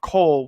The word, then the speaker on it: Col: The next day, the moonlit black cats decide to go buy a house since they got enough coal, which is coal's the currency. It's spelled COL, and basically they could buy a house for everyone in the team.